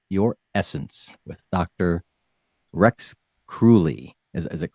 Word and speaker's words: Kruly: going to empower your essence with Dr Rex cruy is is it cruy it is all right I pronounced it right founder of depth healing technology